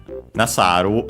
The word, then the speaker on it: nasaru: Suru, unaccented, to do, the most common form, but yeah, we have this honorific one, nasaru, I think accented, yes, accented.